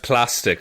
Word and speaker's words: Plastique: And Plastique quickly grabs pronounced plastic. I'm sorry. Oh, for God's No, it's plastic.